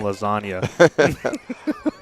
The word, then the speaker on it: lasagna: Allen should be in some letters are just not to be pronounced like the G and lasagna zaga so we